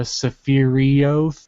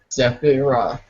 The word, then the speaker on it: Sephiroth: in my mind, and I didn't need a pronunciation. Then people were saying it was a Sephiroth and a Sephirioth, Sephiroth.